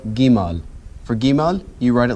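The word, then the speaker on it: Gimel: Okay, our next letter is called Gimal. For Gimal, you write it like this. 1, 2. All right, let's try it again. 1, 2. 1, 2. Gimal makes the G sound.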